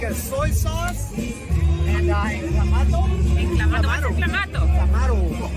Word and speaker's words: Clamato: Oh, it's salt, lime, something like a soy sauce, and clamato. Clamato. What's a clamato? Clamato. How do you pronounce it in English? Clamato? No, clamato. Clamato, yes. No, it's a tomato juice.